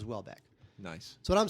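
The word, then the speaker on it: Houellebecq: it's from kinol lber Welbeck is spelled h o u e l l EB e CQ yeah so somehow that becomes Welbeck nice so what I'm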